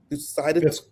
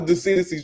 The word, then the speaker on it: Thucydides: Thucydides? Yeah, that's close enough. Thucydides? Thucydides. You guys already knew there was no chance of me getting that right. Thucydides. Anyway, talk about the Thucydides trap.